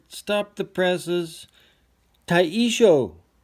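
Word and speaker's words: Taishō: Sorry if I'm not pronouncing those properly. All right. Stop the presses. Taisho.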